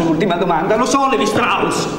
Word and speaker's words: Strauss: Mi faccio un'ultima domanda, lo so, Levi Strauss. Strauss, si pronuncia Strauss.